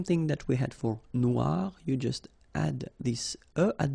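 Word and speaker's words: noire: you will have to add this at the end of Noir for the feminine form but then you don't pronounce it okay so phonetically it is exactly the same no Noir Okay g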